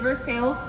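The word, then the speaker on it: Versailles: city of first sales and yes it is for sales that first time do not pronounce it for side they will make fun of you right here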